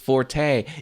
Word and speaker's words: forte: means four Forte Forte it's pronounced Forte it's Italian all these words are Italian for some reason no